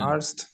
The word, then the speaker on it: Arzt: Arzt.